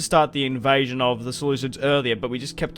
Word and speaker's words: Seleucid: starting the war against the solids or the salid if you will that's how they're actually meant to pronounced but I'm going to say solids it's kind of like